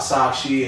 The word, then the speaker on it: Sakshi: Am I pronouncing it correctly? Yes. Okay, we're going to know a little bit about Sakshi and she's going to tell us a little